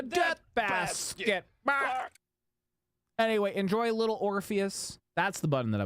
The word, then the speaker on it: Orpheus: Little Orpheus rhymes with Morpheus.